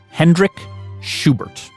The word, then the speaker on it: Hendrick Schubert: Yeah, the story started here in Rostock with this ecology professor named Hendrik Schubert. Did I pronounce that right?